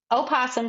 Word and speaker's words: opossum: But me personally, I say that it's starts with an opossum starts with an O, but the O is silent.